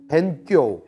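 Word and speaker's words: 勉強: 본토 발음으로는 벤교 이렇게 얘기해요. 벤교.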